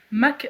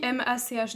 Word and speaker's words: Mach: Mach qui s'écrit M-A-C-H d'ailleurs, je précise. C'est vrai. Parce que moi je l'aurais prononcé Mach. Mach 1, Mach, tu vois. C'est beaucoup moins stylé.